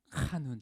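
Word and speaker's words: חנון: 자, 은혜는요, 자, 이 원어를 살펴보니까 이거는 카눈이에요. 카눈. 제가 카자를 저거 많이 쓰죠. 이게 히브리어가 원래 발음이 그래요.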